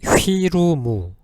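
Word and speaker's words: フィルム: 하고 그죠 영어식 발음은 일본식 발음은 휘루무 필름을 그죠 이렇게 휘루머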